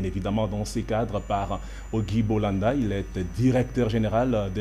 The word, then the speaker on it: Auguy Bolanda: Ogi Bolanda, bonsoir et bienvenue.